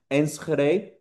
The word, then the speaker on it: Enschede: Um don't worry, I don't expect you to pronounce it correctly because it's a very Dutch pronunciation. So, it's pronounced Ensre, but don't worry about it.